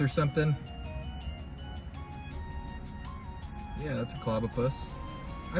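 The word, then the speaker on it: Clobbopus: Yeah, that's a Clobopus. I pronounced it right.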